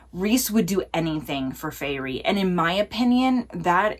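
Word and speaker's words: Feyre: I think it's like Fairy. That's what I'm going with. If I'm wrong, I'm so sorry.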